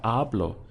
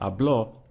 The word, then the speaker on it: hablo: the syllable before last so here we have just two syllables so we get our block I pushed down I stressed on the first one hablo if I said a blow that would mean something entirely different will be understood in